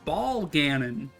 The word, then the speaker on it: Bolganone: It's Ball Ganon. It's Ganon's balls.